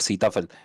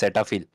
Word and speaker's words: Cetaphil: I actually say them Sitafil for some time, but a person say no, it's not Sitafil, it's Cetaphil.